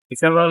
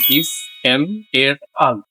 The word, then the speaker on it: ephemeral: ইফেমেরাল এর উচ্চারণ এরকম ইফ এম এর আল।